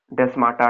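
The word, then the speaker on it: plasmodesmata: डेस्माटा डेस्मेटा से एक ही बात है, प्रोनाउंसिएशन में फर्क होता है बस।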